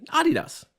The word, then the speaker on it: Adidas: And then because they're a client, to be polite, I would say Adidas. And it's good to pronounce things the right way. I don't need to Americanize everything.